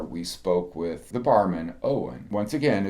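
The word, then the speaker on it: Eoin: Most of the time we were there, we spoke with the barman, Owen. Once again, it's spelled differently than what we may spell it in the U.S., O-W-E-N, but his spelling was E-I-O-N.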